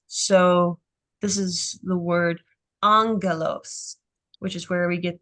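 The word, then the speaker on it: άγγελος: is usually pronounced is they make the first gamma an N so that it's easier for them to pronounce so this is the word Angelos which is where we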